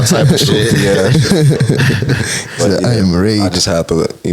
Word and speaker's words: 1AMRAGE: Like, it's 1AMRAGE. It's just I Am Rage, bro. Mm-hmm. You feel me? Some niggas just say 1AM. That's cool too.